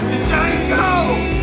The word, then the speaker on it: Django: D-Django, You black son of a bitch! The D is silent, hillbilly.